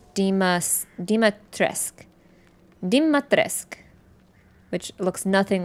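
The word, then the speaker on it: Dimitrescu: blood and death apparently her last name is pronounced Dimas Dima tresk dim matresque which looks nothing like the spelling yeah there's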